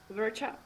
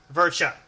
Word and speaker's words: Verca: Verca. Verca. Okay. I make sure I get that right, because I don't want to mispronounce.